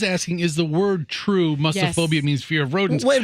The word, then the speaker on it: mussophobia: It's not mouse-ophobia. No. It's muss? Muss. Like no fuss, no muss?